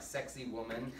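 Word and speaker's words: Sacsayhuamán: It sounds like sexy woman. You can Google Sexy Woman Peru on Google, and it'll bring up the actual site. So much so, because that's kind of how you have to phonetically spell it.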